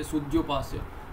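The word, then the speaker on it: sudhyupāsya: So Sudhyupasya, you will pronounce it this way, Sudhyupasya.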